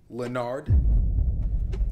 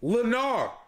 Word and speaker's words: Lenarr: Lenard. My name is not Lenard. It's Lenarr. More like Lanier.